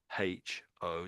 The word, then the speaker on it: hoe: So this is H O.